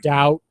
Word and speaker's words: doubt: Well, if you could give me well, like in these words you don't pronounce it, like doubt. You don't pronounce the B.